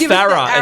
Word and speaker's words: Farah: I'm like, "Dad, it's Farah. It's Farah." Pronunciation.